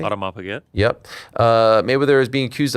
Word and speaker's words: Audemars Piguet: Mayweather, did I pronounce that correctly? Audemars Piguet.